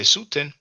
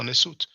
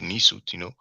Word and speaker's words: Nesut: I did say Suten. I didn't know about the honorific inversion. It's actually Nesu or Nesut. Some people pronounce it Nisut, but I said Suten is a mistake.